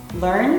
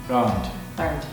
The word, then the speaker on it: learned: Like learned is one. Learned, exactly. Sometimes people pronounce it learned. I learned English. That's 2 syllables, learned.